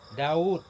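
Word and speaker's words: داود: Daud. Bacanya panjang, mestinya di depan waw itu ada waw satu lagi. Daud.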